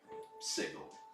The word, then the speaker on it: Sigil: city that you see sprawling up around you is Sigil, yes. Oh yeah, did you were able to see the Yeah. giant? Yes, I see. Okay. Apparently they don't like pronouncing it with a hard G.